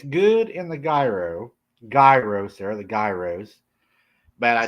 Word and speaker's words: gyro: Okay, Mountain Patriot Homestead said in Greek it is pronounced gyro. Gyro.